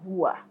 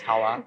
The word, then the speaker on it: Hawa: And this particular post is from a lady named I am Hua. Hua, I don't know how it's pronounced on Twitter. Or Hawa. I said Hua, Huwa. It's Hawa. Oh, well, that doesn't matter.